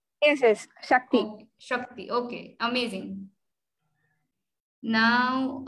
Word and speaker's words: Shakti: Amazing, Sakti. Am I pronouncing your name right? Yes, yes. Shakti.